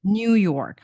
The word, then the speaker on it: New York: New York yeah in in English is like New York on the first syllable and people from Eastern